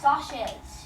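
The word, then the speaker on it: Socs: discussion gu the first question say that they're pronounced sashes does it yeah and does not have the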